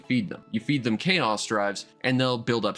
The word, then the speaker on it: Chaos: might find animals or chaos drives which you'll note are not pronounced Chow drives just saying I'm not